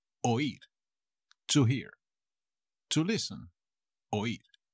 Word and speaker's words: oír: Y el verbito de hoy será el verbo oír, to hear, to listen, oír, con acento en la i.